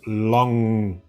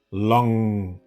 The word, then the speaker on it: lang: I guess many of you have trouble with pronouncing the ng sound together, which makes a ng sound. Okay, ng. So lang, lang.